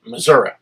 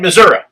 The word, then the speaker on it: Missouri: up and stood up he said preacher thank you I said okay for what he said for saying it right I said okay one to say he said you said in Missouri he said I'm tired of all these Yankee preachers coming down here and say Missouri he said is Missouri